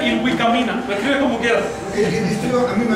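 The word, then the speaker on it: Ilhuicamina: Se pronuncia Ilvicamina, lo escribe como quiera.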